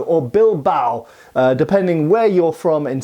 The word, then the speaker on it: Bilbao: So the Bilbo or Bilbao, depending where you're from in Spain and how you pronounce it, as I understand it, the Basques say more like Bilbo and the other Spanish say more Bilbao.